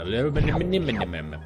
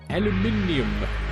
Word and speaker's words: aluminum: And aluminum. Aluminium. Or aluminum. Whichever country you come from.